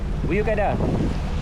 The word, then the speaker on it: Büyükada: We're almost at Buyukada. The port is right ahead. We've arrived at Barakuda. Not Barakuda. Buyukada. Buyukada. "Buyukada Island, Istanbul, Türkiye" If you notice, they don't say Buyukada. Buyuk Ada.